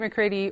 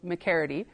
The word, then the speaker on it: McGarrity: And Harriet McCready or McCaridy, um, it depends on who you ask. The Métis names can get a little tricky with pronunciation. Um, but it is an Irish last name, so McCaridy.